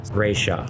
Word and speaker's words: Ssraeshza: It says Emperor Raya, and that's spelled SSRAESHZA. Don't know. Seems like a weird spelling, a weird pronunciation, but that's what the guide says.